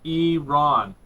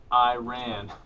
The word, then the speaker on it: Iran: He pointed at it and he goes, "Eran, not Iran."